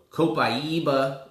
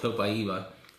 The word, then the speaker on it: copaiba: warm but understand okay so copaiba is how you say this the resilient way some women don't know how to say it but it's some women the real the real title is called copaiba this oil it's it's